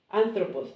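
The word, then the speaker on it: ἄνθρωπος: Anthropos, and it has this intonation, so you put the intonation on the first syllable.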